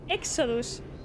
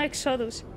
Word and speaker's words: Exodus: ser esa persona pero se pronuncia éxodos no exodus hijos de